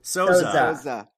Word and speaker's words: Sousa: That was a Z. Sousa.